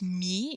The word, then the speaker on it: mis: Mettre is mis. You pronounce that mi. You don't pronounce the S, but it's M-I-S.